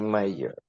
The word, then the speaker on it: major: I need to take 2 biology classes next semester for my major. Excellent. Remember pronunciation, guys. Major. Major. Major.